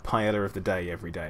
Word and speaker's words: paella: You can't call this paella, or correctly pronounced paella.